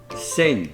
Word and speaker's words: Senj: to a town called sen now that's spelled s-e-n-j and speaking to locals it appears that once again they dropped that J and it's a silent J now sen is a